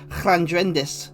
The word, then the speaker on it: Lldraedis: lived in wales and a lot of the words in welsh uh beginning with two l's um i used to live in grand rindwells so you'd pronounce it with a hang now this dragon has got two l's in front of it uh so if it was in welsh it would be clandrendes the devour so i